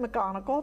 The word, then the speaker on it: McGonigle: So left to right, we have Justin McGonigle. Did I pronounce that right?